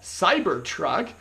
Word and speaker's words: CYBRTRK: not speaking correctly there I guess it's called cyber truck but I kid you not that's how it's spelled it's C YB r TR K and that's what was